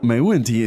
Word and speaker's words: 没问题: So, again, the pronunciation is... 没问题，没问题。 Now, 没问题 is something that you hear all the time.